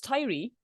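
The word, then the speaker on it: Tiree: when when lockdown came yeah so it's Tyrie um and tidy T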